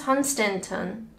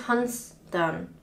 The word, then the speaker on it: Hunstanton: sounds nice in Norfolk the right is Hunstanton huh wrong is hon Stanton rightness hunts done where's the other t